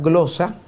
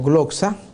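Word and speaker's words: γλῶσσα: la palabra lengua es la palabra griega glosa o glxa eh con eh las dos pronunciaciones se pueden usar en el griego Qué significa idiomas dialecto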